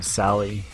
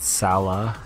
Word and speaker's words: Salah: um that salad Sally it does not like how he pronounced his name Sally he wants to be called Salah so please so we're